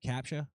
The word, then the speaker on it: CAPTCHA: CAPTCHA?